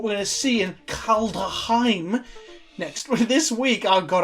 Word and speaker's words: Kaldheim: Kaldheim. People can tell me I'm pronouncing it incorrectly, but there is a D in the middle of it. Kaldheim.